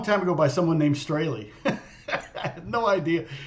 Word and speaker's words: Strahle: or something, and I'm sure it wasn't pronounced Strahle, it was probably Strahle. That's how you really say my name.